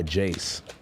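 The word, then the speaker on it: Jayze: guy jace oh yeah but it's spelled i-a-y-z-e i don't know how in the maybe i'm just oh i'll get it i don't know how the you get jace from that yeah like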